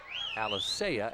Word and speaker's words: Alicea: Alicea actually is how he likes to have his name pronounced.